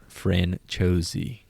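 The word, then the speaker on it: Franciosi: Ashling Franchosi. Are you gonna... As soon as I say her name anytime during this thing, just say it right behind me. I'm gonna correct you. Ashling Franchosi.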